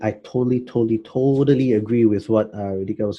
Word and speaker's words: Radhika: Radhika. Radhika.